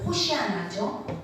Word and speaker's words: 호산나: 호산나가 원래는 원어로 호산나인데 언어의 발음을 들으면 호시아나죠. 호산나, 호시아나.